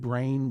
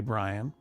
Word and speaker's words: Brian: thanked a guy named Brain Wowski. Well, that's not how you pronounce his name. I mispronounced it on purpose. I said thank you to Brain, a.k.a. Brian, because Brian is a brand new member.